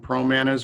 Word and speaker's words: Pramanas: you well pramanas comm Pro Manas rhymes with bananas PR o ma na